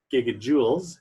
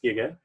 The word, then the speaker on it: giga: course here we have one point twenty one giggles it's not pronounced it's pronounced Giga and we're not dealing